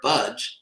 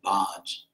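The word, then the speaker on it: भज्: The verb budge, as in the English word I won't budge. That's actually how it's pronounced. Devotees tend to pronounce it bodging or bodging like I'm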